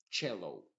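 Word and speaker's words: cello: pronunciando como una s excepto en la palabra chello en donde la c se pronuncia como una ch chow y en palabras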